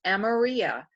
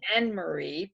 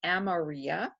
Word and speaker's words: Amarea: They always thought it was Anne-Marie, but it's Amaria.